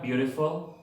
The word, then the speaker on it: beautiful: La palabra beautiful, también tenemos una schwa en la última sílaba, la U. Beautiful. Ahí también está la schwa.